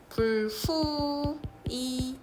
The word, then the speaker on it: 불휘: 근데 얘는 실제 발음은 불후이 이렇게 된다고. 불후이.